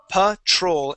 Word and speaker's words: patrol: here is Patrol so instead of saying Patrol we say p Patrol and the accent goes on the end Patrol the patrol one